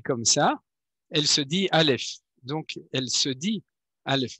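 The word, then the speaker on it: אלף: ça, elle se dit Aleph. Donc, elle se dit Aleph. Vous voyez, elle se dit comme ça. Et du coup, on appelle le nom de la lettre tel qu'il est en 3 lettres, Aleph, Lamed, Pei, on appelle ça le miloui.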